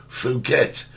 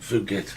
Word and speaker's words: Phuket: Apparently, Phuket is full of Russians.